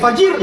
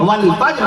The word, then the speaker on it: فجر: ایسی فجر نہ کہا کیجئے, فجر کی نماز, فجر کا وقت ختم ہو گیا, فجر کا وقت کب لگے گا, فجر نہیں. قرآن مجید اللہ نے باقاعدہ تلفظ بیان فرما دیا, لفظ نازل فرما دیا عرش معلیٰ سے. بسم اللہ الرحمن الرحیم, والفجر قسم ہے فجر کی.